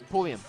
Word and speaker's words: Pulliam: Pulliam.